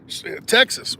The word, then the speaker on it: Texas: the x or uh the X in Texas is pronounced with like an H Tas so anyway shouldn't